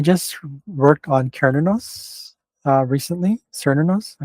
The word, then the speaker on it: Cernunnos: Cernunnos. Cernunnos is how they say it.